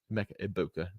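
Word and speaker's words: Emeka Egbuka: Mecha Ibuka, no G. I got yelled at for pronouncing the G earlier this week, so that is my bad.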